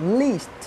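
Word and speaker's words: lest: লিস্ট। এটার উচ্চারণ লিস্ট না। এটা হচ্ছে লেস্ট। এলই এসটি লেস্ট।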